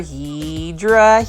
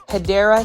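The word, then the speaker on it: Hedera: This is another heedra helix. Say it with me, guys. Heedra helix or the correct way to say it, you already know. Hideera helix or English ivy.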